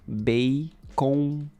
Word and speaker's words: bacon: Em português pronunciamos bacon. Nasal sound. Bacon. Está comendo bacon, verdade?